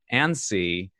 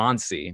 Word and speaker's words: Annecy: up here is because it was revealed at Annecy Animation Festival in France, Annecy, France. It's kind of an odd. It doesn't sound right when I say it that way. Annecy, like like you're jittery. But apparently Annecy, maybe that's a bit more, formal sounding.